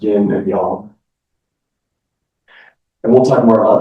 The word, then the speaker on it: yin and yang: And when I was a kid, we called it yinyang, but in Chinese, it it really is uh pronounced yin and yang.